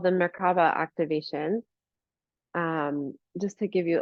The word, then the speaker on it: Merkaba: Merkaba, you can look at it as like three syllables, or Mer stands for light, Ka is spirit, Ba is body, physical body.